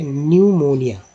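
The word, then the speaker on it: pneumonia: तो देखिए यहाँ पी के बाद एन आया तो पी को साइलेंट किया गया और ये पढ़ा गया न्यूमोनिया।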